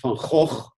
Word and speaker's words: van Gogh: will be released later this year on vincent van gogh or vincent van gaal as he should be pronounced and i was struck by the similarity